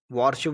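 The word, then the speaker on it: worship: वॉरशिप। वार्षप बोलते हैं। वह गलत होता है। क्योंकि क्या है यह? वरशिप।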